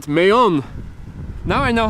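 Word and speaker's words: Mahón: Right, Mayon. Now I know how to pronounce it.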